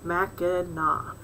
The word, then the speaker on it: Mackinac: place we know is mackinac island is always pronounced mac and na regardless of its spelling and people of all